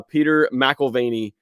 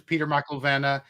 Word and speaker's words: Mcilvenna: guys today we got an awesome guest uh Peter melany uh maena I'm sorry I'm saying it wrong